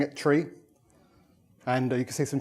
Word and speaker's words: trie: my holiday pictures in comes from the word retrieve and that's why it's pronounced a tree but you know some